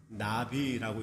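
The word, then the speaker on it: נביא: 히브리 성경에 보면 그 선견자 어 예언자라고 하는 말 그 단어가 나비라고 읽거든요.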